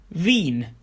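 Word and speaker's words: Wien: get them right as the wrong vowel combination can change the meaning of the word for example Vine meaning wine as opposed to V which is the capital city of Austria Vienna Lia means unfortunately but leer means songs if you see another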